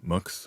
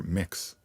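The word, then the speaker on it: Mx: masculine or feminine enter muks pronounced mooks or mix the term is currently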